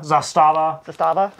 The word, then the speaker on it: Zastava: I'm going to say this wrong, probably Zastava. Yeah. That's how you say it. P10. Zastava.